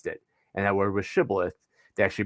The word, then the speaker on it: shibboleth: than the frameites did and that word was shibboleth they actually pronounced sibilith and so they were authenticating every soldier who